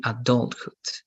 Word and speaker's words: adulthood: development good this also the stress in the world is in adult so it's going to be adulthood adulthood adulthood good this